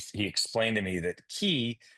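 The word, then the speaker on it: cay: Did you do you ever stop in Hawkville K key? I don't want to say K because it's spelled K, but it's key.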